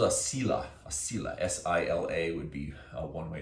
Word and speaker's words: sila: A sila, S-I-L-A would be one way to spell it.